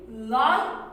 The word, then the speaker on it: light: with letter i ha when letter i comes with g h we will drop g h and don't pronounce g h they will be silent they will be silent and say the sound of letter i only the sound of letter